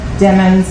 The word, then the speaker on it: Demons: following capitalists and remember demons like rhymes with lemons I know my okay going on to October 26 2018.